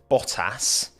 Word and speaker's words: Bottas: Between Bottas and... See, I can pronounce the T's in Bottas when I want.